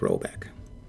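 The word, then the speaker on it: Råbäck: to be called robec pronounced something like roebeck though that is not its name it is one of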